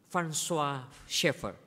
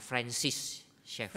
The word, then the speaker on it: Francis Schaeffer: Edith Schaeffer， Dia adalah istri dari François Schaeffer. 那么他是芬舒尔 Schaeffer 的这个妻子 Kita biasanya bacanya Francis Schaeffer.